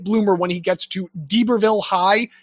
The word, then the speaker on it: D'Iberville: And so he's a very late bloomer when he gets to D'Iberville High. That's spelled little d apostrophe I-B-E-R Ville. So I think D'Iberville is correct.